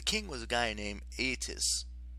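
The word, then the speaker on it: Aeetes: was a guy named eitis as near as i can figure that's pronounced aitus he's a big claimed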